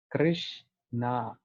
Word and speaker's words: Krishna: I was attending his class and he was saying, when the tongue goes fold three times, then Krishna comes out. Krishna.